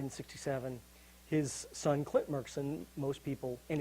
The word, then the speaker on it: Murchison: uh the murchison's Mr Merkerson the Elder Murchison died in 67. his son Clint markson most people and it's merkinson they pronounce it with a K not a CH of course became famous